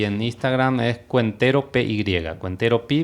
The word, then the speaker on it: Cuentero PY: Cuentero Pi, pero con Y. Que es como Cuentero Pi. Nosotros decimos P, ¿verdad? Porque la Y en guaraní se pronuncia así gutural.